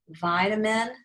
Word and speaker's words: vitamin: is a multi-syllable word vitamin the i is long we put a macron vi it's also the stress syllable vitamin and then this one